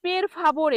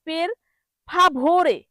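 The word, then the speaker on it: per favore: পেরফাবরে পের ফাবরে পেরফাবরে ওই ভ এর জায়গায় ব এর মত উচ্চারণ করে যেখানে পের ফাভরে ভ এখানে ভ উচ্চারণ হবে কিন্তু অনেকে বলে পের ফাবরে এখানে ভ এর জায়গায় ফলে ব এর জায়গায় কি বলে বের ফাবরে এই বতে উচ্চারণ জোর হবে ভোরে। ঠিক পের ফাবরে হবে। কি হবে? পের ফাভরে।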